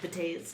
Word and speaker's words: Betazed: That's actually, I believe it's pronounced betazed.